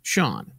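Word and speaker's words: Sion: Now, his parents might have spelled that funny, but trust us, it's pronounced Sean. Yeah, S-I-O-N.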